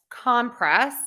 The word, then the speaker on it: compress: have that rule there we're stressing syllable number one for compress and syllable number two for the verb compress another word that we